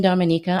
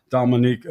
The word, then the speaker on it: Dominica: So, with your bravery and here you are in the Dominica.